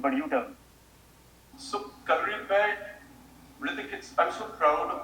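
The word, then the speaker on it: Kalaripayattu: So Kalari Pipe, Hrithik, I'm so proud of the fact that you said the name correctly.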